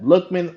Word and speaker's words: Lookman: Yep, Lookman, like it sounds, Lookman.